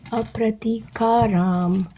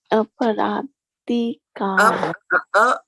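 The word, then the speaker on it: अप्रतीकारम्: See, when you are pronouncing it, you have to make do a difference between this and this, right? Para and pra. Try both of them, then you'll know the difference.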